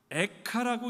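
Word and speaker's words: איכה: 히브리어 제목으로 보니까요, 에카라고 읽는다고 합니다.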